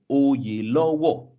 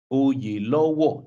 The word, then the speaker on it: Oyelowo: happens to be David Oyelowo, who is a British Nigerian actor, he emphasized that his name could be pronounced by adding an O either side of yellow, Oyelowo, Oyelowo, David Oyelowo.